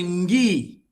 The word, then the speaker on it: ngui: A letra G, aquele U não existe. O U e o I também não existe. Simplesmente um ngui e pronuncia-se ngui. A tendência tipo de ter o U aí, mas na verdade, ao escrever em Kikongo, aquele U e o o U não existe, ele é simplesmente nulo.